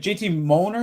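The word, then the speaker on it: J. T. Mollner: I Dude, JT JT Molner is how you say it, right?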